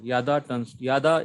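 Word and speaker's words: ידע: How do you pronounce the root root word? word, the only consonantal form you have to remember. Yada.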